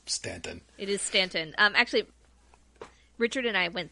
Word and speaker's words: Staunton: the past weekend, and it's spelled Staunton. Yes, as opposed to Staunton. Yes, it is Stanton.